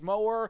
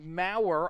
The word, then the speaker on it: Maurer: I thought maybe it was Mower, but Maurer, I probably would have never guessed that, honestly.